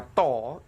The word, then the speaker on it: tau: terhadap waktu Hai nah ini huruf Yunani bacanya tol ini menyatakan torsi Hai